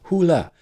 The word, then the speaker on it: Hole: But what makes this worse, indefensible even, is the fact that the Norwegian pronunciation of his last name is Hula.